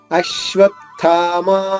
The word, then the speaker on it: అశ్వత్థామ: 3వ చరణం అశ్వత్థామా వికర్ణశ్చ. అశ్వత్థామ, ఇక్కడ 2 ఆఘాతాలు ఉన్నాయి. ఆ పైన ఆఘాతం తీసుకుంటూ శ్వాలో నిషాద్విత్వం చేసుకుంటే అంటే 2 శాలు అవుతుంది.